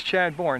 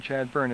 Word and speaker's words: Chadbourne: And it is Chadbourne, not Chadburn. It's spelled like Bourne.